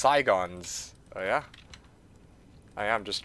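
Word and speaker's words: Sigon's: It's pronounced Saigons.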